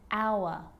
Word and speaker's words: hour: And sometimes it's not pronounced at the start of a word, like honest and hour.